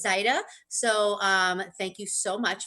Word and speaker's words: Zaida: I just wanted to make a little, that happens a lot with her, but that is the way she pronounces her name is Zaida.